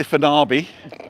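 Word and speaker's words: Fañabé: We are at Fanya Bay Plaza, or as the Brits say, Fanabi.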